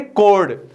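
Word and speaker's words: chord: इसको pronounce कोड करते हैं, चोड़ नहीं करते, कोड, कोड ए बी।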